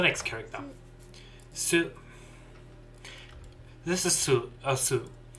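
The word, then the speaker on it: す: Okay, let's go for the pronunciation. She. She. She. She. Get ready for the next character. Su. This is Su, or Su.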